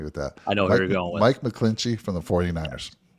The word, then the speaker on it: McGlinchey: to help me with that I know Mike mcclinchey from the 49ers right is that how you say his name a clinky or Mike's mcglinchey yeah okay love it but he's gonna cost